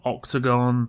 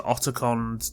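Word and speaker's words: Otacon: Another common joke during the recording was how actors pronounced Oticon from Octagon to Oticon to Oticon.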